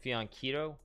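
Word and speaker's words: fianchetto: Fianchito is pronounced with a K sound, like Fianchito.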